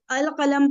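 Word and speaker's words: القلم: फिर हम क्या करेंगे ये वाले जो लेटर्स है ना इनसे जब भी कोई वर्ड शुरू होगा और उससे पहले अल लगा हुआ होगा ठीक है तो हम वो वाला लाम पढ़ेंगे ठीक है अल कलम पढ़ा हमने फिर कुर्सी का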